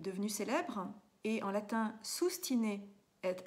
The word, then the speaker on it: sustine: célèbre, est en latin sustine et abstine. Ça s'écrit S-U-S-T-I-N-E, sustine, S-U-S-T-I-N-E, et abstine, comme abstinence, A-B-S-T-I-N-E.